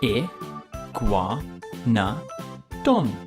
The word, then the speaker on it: Iguanodon: about more dinosaurs now it's time for Iguanodon here gwon no done how do you say that again II Guan no done how heavy was Nguema dog it was as